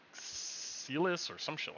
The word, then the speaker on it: Cillian: And the lead, I can't pronounce his first name. It's like Celis or some shit like that, or whatever his name is. Oh, Kieran Murphy. Yeah. Killian Murphy.